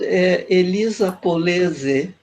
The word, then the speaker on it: Elisa Polese: About Elisa POLESE, is like that we pronounce. It's an Italian name, isn't it?